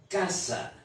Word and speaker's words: casa: La force de la syllabe sur cette parole est à la première syllabe. Alors on dira casa.